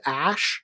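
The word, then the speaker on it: Æ: a parent a it's like Elvin and it's pronounced ash so the name is X ash a 12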